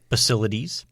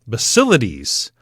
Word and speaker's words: Basilides: How would you pronounce that next one? Basilides. Basilides.